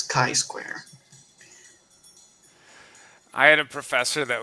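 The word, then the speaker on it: chi-square: He was like, "It's not chai square or or ki square, it's kai square."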